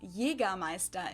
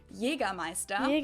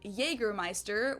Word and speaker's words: Jägermeister: From shoes to alcohol, this is pronounced Jägermeister in German. Jägermeister. English speakers usually say Jägermeister, which is pretty much the same, just with a pretty thick accent.